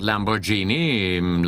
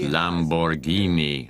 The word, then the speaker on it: Lamborghini: Over there, GH is pronounced as a hard G. Aha, like spaghetti then. So it's not Lamborghini, like a genie from a lamp. The name is pronounced Lamborghini. A GH is always G in Italian.